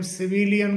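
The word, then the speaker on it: civilian: इसी प्रकार से अगला वर्ड है सी आई वी आई एल आई एन इसे हम सिविलियन करके बोलते हैं। सिविलियन जबकि इसका सही जो प्रोनाउंसिएशन है वो सिविलियन सबिलियन सिविलियन करके होता है।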